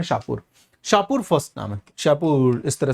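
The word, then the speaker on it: Shapur: का second roller है जिसका नाम है शाहपुर शाहपुर इस तरह से करके इसको प्रोनाउंस करते हैं इसने इसका एक फेमस इनस्क्रिप्शन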